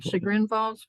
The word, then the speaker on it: Chagrin Falls: Chagrin Falls, Ohio.